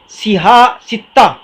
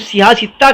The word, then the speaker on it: صحاح ستہ: کو تکلف ہوتا ہے، اس کا تلفظ بھی لوگ صحیح نہیں کرتے، کوئی صحاح بولتا، صحاح ستہ، صحاح ستہ، اور جو ہے کیا کیا بولتے، پر صحیح کی جمع صحاح ہے۔ تو وہ 6 کتابیں